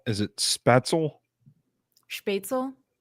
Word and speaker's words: Spätzle: How do you pronounce? Is it Spatzel? Spätzle? Spätzle.